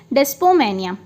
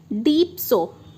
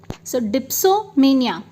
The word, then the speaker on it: dipsomania: So चलिए दोस्तों, next is डेस्पोमेनिया. सो डेस्पो नहीं, सॉरी, मैंने फिर इसका प्रोनाउंसिएशन जो है वो गलत किया है, डीप्सो. So that is dipsomania.